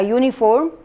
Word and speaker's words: uniform: On the other hand, a uniform, it's what ya sound, so that's why it's not a vowel, it's semi-vowel or as consonant.